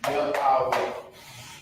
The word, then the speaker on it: Yahweh: Yahweh. This is how you will write this phonetic pronunciation.